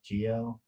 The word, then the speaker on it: Geo: Um, One fact is that I have a lizard named Geo, and it's said like Geo, but it's spelled like with a J, like my name, so it's Geo.